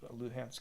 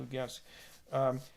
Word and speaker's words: Luhansk: I've seen it pronounced both ways, Luhansk and Lugansk.